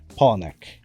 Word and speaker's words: Poullennec: We have Gwendal Poullennec, right? Am I pronouncing your last name right?